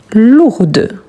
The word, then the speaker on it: lourde: Quand on dit on prononce ici le féminin, on dit lourde. Lourde. Donc on prononce bien le D.